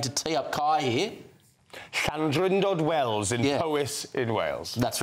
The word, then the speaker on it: Llandrindod Wells: Llandrindod Wells in Powys in Wales. That's right. That's exactly right. Well pronounced.